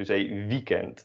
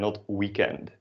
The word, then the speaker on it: weekend: pronounce this english but the w we pronounce is dutch so you say weekend and not weekend or weekend not uh